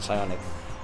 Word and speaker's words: Psionic: I think the P is silent in Psionic.